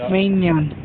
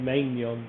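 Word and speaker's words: Maignan: pronounce this here names it has been mike minion i would have said manion but i was so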